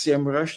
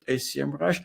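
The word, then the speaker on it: Semrush: move to S Rush it's actually pronounced Sam Rush not ACM rush and there's a history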